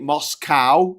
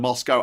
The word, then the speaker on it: Moscow: I hate Moscow instead of Moscow.